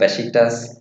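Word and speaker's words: Beşiktaş: Besiktas, Perfect pronunciation.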